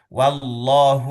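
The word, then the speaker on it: والله: Nah, ini wallahu itu juga kita perhatikan lagi ya. Wallahu wya tipis, Allahnya tebal.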